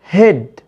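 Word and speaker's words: head: في عندي بقى استثناءات هنا من ان الاي اي بنطقها اي طويله، عندي كلمه هيد رغم ان هنا اي اي مش هنطقها اي طويله، لكن اقول هيد.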